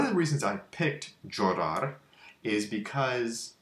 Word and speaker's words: llorar: And one of the reasons I picked llorar is because the double L at the beginning here is pronounced 3 different ways, depending on the dialect of Spanish that you speak.